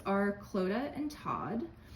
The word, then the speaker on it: Clodagh: Their names are Clodagh and Todd. Clodagh is pronounced like Coda, but with an L, and it is an Irish name because my wife, Emma, is from Dublin, Ireland.